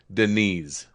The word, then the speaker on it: Deniz: It is a Turkish name meaning the sea. It is pronounced Deniz.